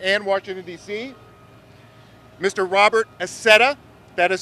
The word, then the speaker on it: Accetta: Robert Accetta, that is spelled A-C-C-E-T-T-A.